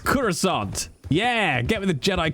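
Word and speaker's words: croissant: a quasa it's pronounced kurant yeah get me the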